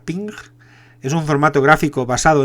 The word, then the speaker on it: PNG: gráficos de red portátiles que se pronuncia ping es un formato gráfico